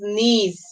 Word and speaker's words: niece: And here we before we learn that I-E can say A, but here we can see that it's saying E.